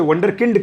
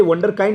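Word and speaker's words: Wunderkind: हो जाए तो उसे वंडर किंड कहते हैं. ये वंडर काइंड अंग्रेजी का शब्द नहीं है. वंडर किंड स्पेलिंग तो WO नहीं है, WU है. वंडर किंड है.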